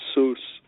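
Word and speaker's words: Soos: Right, it was based off of, like, Zeus? Both of us thought it was Zeus, and then we saw, like, it was Seuss, like, S-O-O-S, Seuss, dude.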